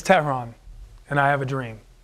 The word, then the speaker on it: Tehran: my name I'm like no it's not ton it's not Tyrone it's ton my name is my name is Terron and I have a